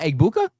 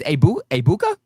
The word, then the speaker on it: Egbuka: You don't pronounce the G. It's not Egbuka. It's Egbuka.